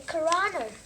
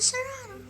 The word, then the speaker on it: Cyrano: The Cyrano is all finished.